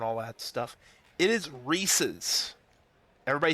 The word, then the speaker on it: Reese's: which for the record, we're talking about pronunciations earlier, like crayon and crown and all that stuff. It is Reese's. Everybody say it together. Yell your PC. Reese's. Reese's. Not Reese's.